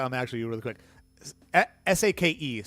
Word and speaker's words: sake: S a ke sake for I don't know why English speakers say saki. I don't understand where that came from, but yeah, it it's sake.